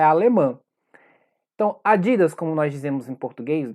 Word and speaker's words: Adidas: maneira correta adidas então o jeito correto de pronunciar na língua nativa é adidas oi aqui é a